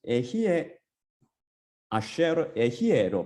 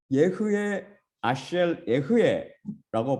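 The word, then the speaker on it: אהיה אשר אהיה: 그런데 하나님의 이름은 에히에 아쉐르 에히에로 발음한다고 제가 가르쳐 드렸었죠. 사실 제가 유대인 선생님한테 배운 vocal and silent shiva, 이것을 뭐라고 그러냐면 한국말로 유성 및 무성 쉐아 법칙에 따르면, 그 룰에 따르면 예흐에 아쉘 예흐에라고 발음해야 맞습니다. 배운 바에 따르면 그렇게 발음해야 됩니다.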